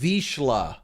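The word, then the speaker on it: Vizsla: It's pronounced Vishla. Gotcha. It's Hungarian for pointer.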